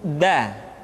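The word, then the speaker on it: د: Selanjutnya pengucapan huruf da. Da diucapkan dengan menyentuhkan ujung lidah kita dengan bagian gusi-gusi dua gigi seri bagian atas. Da. Nah, kesalahan yang sering dilakukan adalah menyentuhkan ujung lidah dengan langit-langit. Da.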